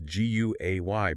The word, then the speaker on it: Guay: If you'd like to leave feedback or have any questions, feel free to reach out to our producer, Julius Guay, that's G-U-A-Y, pronounced Guay, on LinkedIn.